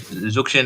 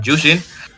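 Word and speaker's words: Zhuxin: I mean, shout out to Ray brother to tell me how to pronounce Zukshin as Jushin.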